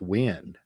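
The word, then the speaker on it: Nguyễn: an NG there well it does start with the sound NG but in English we don't start words with the sound NG NG by the way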